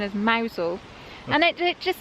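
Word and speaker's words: Mousehole: hole and it gives you the correct correct pronunciation as mousel and it just says Paul Venice which is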